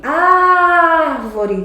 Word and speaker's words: árvore: Qual é a sílaba mais forte? É árvvore. Árvore. Tá vendo? Ela é a mais forte. Ela é a antipenúltima.